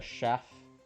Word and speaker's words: chef: The chef? Chef. Chef is pronounced with an SH sound instead of a CH sound, and I had never thought about this until now.